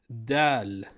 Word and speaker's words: د: Dal. I guess Dal's gonna be okay. The D of the Arabic alphabet. Pronounced the same in Fusha and slang. Da. Da.